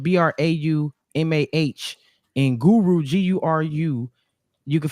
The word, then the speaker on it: Braumuh: So it's different because it's Braumah. It's like trauma, but with a B and the H at the end.